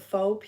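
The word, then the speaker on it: pho: broth I know I want to call it faux pH o but it's fa it's pronounced F okay I keep forgetting anyway so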